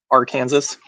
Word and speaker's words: Arkansas: other state of Arkansas but it's spelled AR Kansas oh yeah she's like us why you do this oh right pretty funny oh it's you say it's Arkansas without the S at the end oh okay I don't